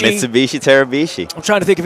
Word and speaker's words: Tarabishi: Tarabishi is here. I'm here. Rhymes with Mitsubishi. Mitsubishi Tarabishi.